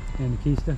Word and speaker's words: Anakeesta: Anakeesta?